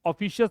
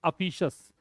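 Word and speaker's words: officious: अफिशियस, क्या प्रोनाउंसिएशन है, अफिशियस, ऑफिशियस नहीं है, अफिशियस।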